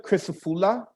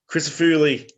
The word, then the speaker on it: Crisafuli: Crisafula. Crisafuli. Oh, there's an I at the end.